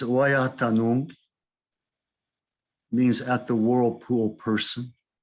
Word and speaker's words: Ouiatenon: English spelling is with an E, and I think people say Ouiatenon. The Miami is Ouiatenon, means at the whirlpool person.